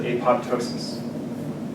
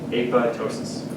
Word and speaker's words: apoptosis: of course and then in Greek the p is silent APO Tois P if you go out in the research world and someone calls it apoptosis a person has not been studying apotosis very long they don't